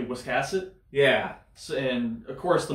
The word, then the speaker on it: Wiscasset: it you know like we were calling it what Wicket yeah and it's actually Wiscasset yeah and of course